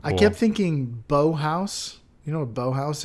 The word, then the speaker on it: Bauhaus: No, this is pronounced bow house. Bauhaus. Oh, Bauhaus, like a German thing.